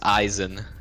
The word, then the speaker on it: Aizen: people got it wrong, I always am about to say Aizen, and then I'm like, oh shit, everyone gets it wrong, right? I better go with Isan. And then I Yeah. say it wrong, and then they're like, no, you got it right, and I'm like, yikes. So Oops. let it be known, it is Aizen.